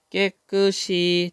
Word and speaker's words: 깨끗이: 나쁨 단계로 외출 뒤에는 깨끗이, 자, 이 뜻이 없는 말입니다. 그러니까 시옷을, 받침 시옷을 뒤로 넘겨서 읽으면 되죠.